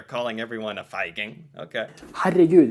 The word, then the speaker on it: Herregud: Herregud, it's like... Herregud. Herregud. It almost sounds a little like, oh my god, herregud.